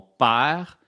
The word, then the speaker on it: père: Mon père se prononce pas e. Mon père.